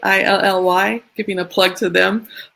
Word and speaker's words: illy: Is it pronounced Ely or Illy? Illy, giving a plug to them.